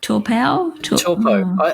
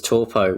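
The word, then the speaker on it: Taupō: greytown lower hut and torpo torpao i'd always pronounced it or read it as toppo which you know would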